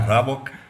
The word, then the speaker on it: Raboch: Bom, vamos pronunciar meu nome correto, né? Rabok, né?